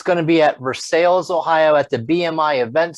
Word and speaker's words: Versailles: I always want to say Versailles, but I think they pronounce it Versailles.